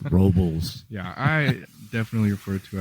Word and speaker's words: Robles: Everybody here says Robles. Robles. Yes. Robles. You just kind of put like rocks in your mouth. Robles.